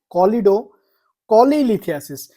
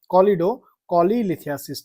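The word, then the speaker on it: choledocholithiasis: उसके बाद नेक्स्ट हमारे पास है कोलिडो कोलिथियासिस।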